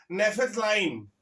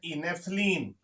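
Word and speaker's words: naphthalene: नेफेथलाइन, क्या बेटा? स्पेलिंग देखो, NAPH, नेफ है ना, THALENE, नेफ्थलीन।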